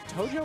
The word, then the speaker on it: Tojo: Is it Tojo or Toho? Tojo.